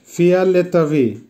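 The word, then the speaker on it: фиолетовый: ফিয়ালেতাভি, ফিয়ালেতাভির অর্থ হবে ভায়োলেট, উচ্চারণ হবে ফিয়ালেতাভি।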